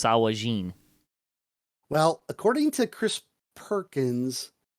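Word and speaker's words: sahuagin: word and it's pronounced sawajin well according to chris perkins the gin at the end is always pronounced jin it's a hog jin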